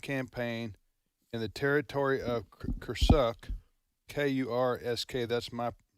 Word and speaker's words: Kursk: Ukrainians' military current campaign in the territory of Kursk, K-U-R-S-K, that's my pronunciation.